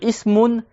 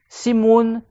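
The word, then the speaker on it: اسم: Et que le mot ism en arabe qui veut dire le nom, il a 6 manières d'être prononcé en arabe. Tu peux dire ismoun, simoun, simoun. Tu peux dire aussi sima.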